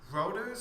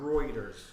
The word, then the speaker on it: Reuters: it was first reported by i've always been mispronounced as rotors or routers wrong it's one of my new sources that i use yeah it's i've always pronounced it on reuters yeah so reuters first thing that tick tock